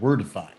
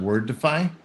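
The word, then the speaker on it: Wordefi: the side projects we've got is something called wordify and it's word it's spelled w-o-r-d-e-f-i so ken let's say the word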